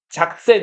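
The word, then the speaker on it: Sachsen: 이런 이걸 독일어로는 작센 이렇게 읽거든요.네 작센이라고 읽어요. 지금도 독일에 작센 주가 있어요.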